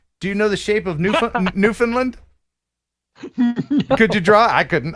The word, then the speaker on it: Newfoundland: newfoundland newfoundland newfoundland newfoundland i try to say it like they would say it right it's newfoundland it's not newfoundland like most americans hey it's a new land we found look look at that it's new and it's found it's sound it's new oh hell come